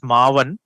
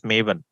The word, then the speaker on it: Maven: guys so pronunciation is also important some people pronounce it as Maan ma one that is incorrect it should be pronounced as mavan clear okay so this came up in 2003